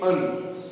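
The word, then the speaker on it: an: इसको हम लोग वीक फॉर्म्स में बोलते हैं अन। जैसे आपने देखा होगा अन, और यहाँ पे है एन, एन apple, एन elephant.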